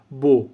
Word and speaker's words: beau: ільфебо значить хороша погода Зверніть увагу на вимову бо бо бо бо ільфеа холодно ільфешоу